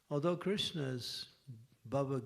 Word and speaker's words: Krishna: in the shuis that Krishna appears on the last syllable of his name so when you say Krishna you say Krish he's not there yet and when you say